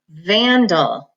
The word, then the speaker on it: vandal: don't save and ow we say vandal so that first syllable takes the accent so it's Van dull number that schwa is